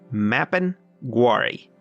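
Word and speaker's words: mapinguari: up a picture picture of the mapping and spell that it's m a p i n g u a r i mapping guari look how terrifying that thing is mapping worry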